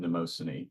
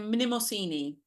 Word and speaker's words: Mnemosyne: Being dipped in the waters of forgetting, and then being dipped in the waters of I pronounce her name Mnemosyne, but I think you called her how do you pronounce it?